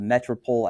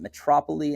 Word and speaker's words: metropole: is sometimes called the metropole. I've heard people pronounce it metropole, and I don't think that's right.